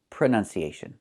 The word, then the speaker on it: pronunciation: The word is pronounced pronunciation. We see the letter U there between the ends. Right? That's a short uh sound like cup and up. Prenun. Prenun. So the two first vowels are the same sound.